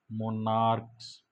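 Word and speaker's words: monarchs: इसमें केवल बेटा एस जुड़ेगा क्योंकि ये इनका उच्चारण सी एच होने के कारण क हो रहा है।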